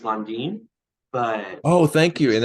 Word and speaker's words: Landin: full Hispanic Mexican and it's supposed to be pronounced londine but oh thank you and I didn't even ask you how to pronounce I just say Landon at this point myself yeah so I think